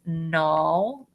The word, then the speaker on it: gnaw: We know that the G is silent, so it says gnaw.